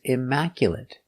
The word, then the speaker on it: immaculate: Four syllables. The stress is on the second syllable. Immaculate. Mac. Stress is on Mac.